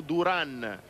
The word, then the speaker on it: Duran: il cereda passo duran ci ha telefonato il sindaco di agordo dicendo noi pronunciamo duran quindi vi saremmo grati se anche voi di cheste duran ma l'abbiamo detto in apertura di trasmissione in provincia di belluno lo chiamano passo duran ma la pronuncia è dura dunque di qui in avanti sarà così il rifornimento è stato effettuato